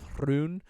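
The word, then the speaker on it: Rhûn: They've put them in the land of Hrun, thank God fucking everybody is saying it that way in this season. I love it. Like I love that everybody just pronounces it correctly. It's so good. But it's Rhun.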